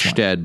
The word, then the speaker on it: Stede: This week's show is about Stede Bonnet, the gentleman pirate. So I figured we'd just beat him to the punch. It's pronounced Stede, but go ahead.